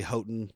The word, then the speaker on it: Houghton: Like Houghton Road is actually Houghton.